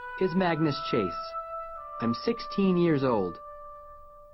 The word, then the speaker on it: Magnus: them no it's Magnus rhymes with swag nice my mom named